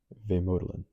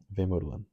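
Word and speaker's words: vemödalen: usually borrows to give names to their products pronounced vodin VOD okay so I said VOD okay vodin makes sense so I guess essentially what this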